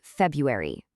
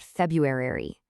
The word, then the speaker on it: February: It's February, not February-ary.